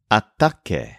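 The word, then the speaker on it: ataque: a fight and the word for attack is ATT spelled a T a quu e for example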